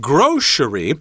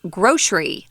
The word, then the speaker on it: grocery: have the tradition of saying grocery with a sh sound in there so you might expect